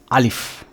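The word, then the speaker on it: ألف: আলিফ। আমরা আ লসি প আলিফ এটা পড়বো না আমরা কি পড়বো আ লসি ফ মানে একটা ঠোট দিয়ে একটা বাতাস বেরিয়ে যাবে ফ আলিফ আলিফ আমার মুখের দিকে তাকিয়ে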